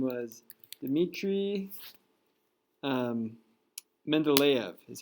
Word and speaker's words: Mendeleev: a russian guy whose name was dmitry um mendeleev is how you pronounce it so let's pull let's pull up